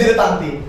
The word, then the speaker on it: dilettante: This is pronounced as dilettante.